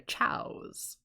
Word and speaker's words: Chao: Apparently they're chows, which is also spelled like Chaos without the S.